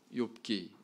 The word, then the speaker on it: 욥: 성경은 히브리 원문 성경의 제목이 이요 오브 빠르게 발음하면 뭐가 될까요 요기 되겠죠 아 이 욥 이라고 하는 이 제목은 70인역 뽕 과 나친